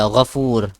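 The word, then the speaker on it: غفور: Instead of saying four, we say four. Okay, four. Because in Arabic there is nothing pronounced like that. Four. Okay, four is nothing in Arabic. Okay, it's foo. Foo.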